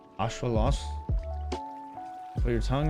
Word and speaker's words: axolotl: to read in fact the way you pronounce axolotl in nahuatl is like ashwalos put your tongue right